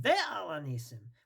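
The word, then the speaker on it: ועל הניסים: Therefore, the proper way to say it is with the Vav, Ve'al HaNisim.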